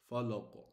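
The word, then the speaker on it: فلق: So how are we going to pronounce it? Listen, falaq. You see, it's stronger than aqwamun.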